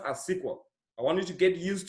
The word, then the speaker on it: SQL: language that was simple stands for and it's pronounced as sequel I wanted to get used to the pronunciation